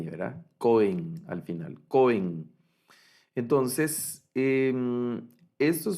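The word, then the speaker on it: כֹּהֵן: Para el sustantivo sacerdote, para el sustantivo sacerdote, el sustantivo es cohen y el acento en este sustantivo es en la primera sílaba. No decimos cohen, sino cohen, cohen.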